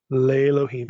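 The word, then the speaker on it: לֵאלֹהִים: the preposition plus Elohim if it's leim leim is the way you would correctly pronounce it that's to one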